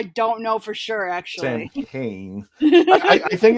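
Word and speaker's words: Samhain: Sam Hain. Close. Sam Hain. Yeah, very That's close. how it's spelled.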